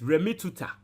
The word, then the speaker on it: remittitur: like in mini, tuta into the word is remittitur.